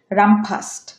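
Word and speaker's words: run fast: পরের শব্দ নিয়েছি রান ফাস্ট, এটা উচ্চারণ হবে রাম ফাস্ট, রাম ফাস্ট, রাম ফাস্ট।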